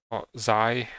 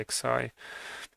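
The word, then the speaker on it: Xi: to install on xy because zai how they tell it should be pronounced but i will say x i because it is natively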